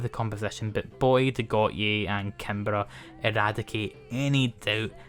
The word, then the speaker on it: Gotye: I know it's meant to be pronounced Got-ye but the Scot in me is reading it in a certain way so Goat-ye it remains.